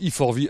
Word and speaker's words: E4V: Voilà, on dit E4V à l'américaine, ça veut dire Energy for Vehicle.